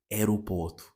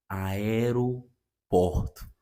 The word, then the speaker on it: aeroporto: So I tend to pronounce this word as aeroporto, aeroporto. Okay, but I discovered it's not aeroporto, it's aeroporto, aeroporto.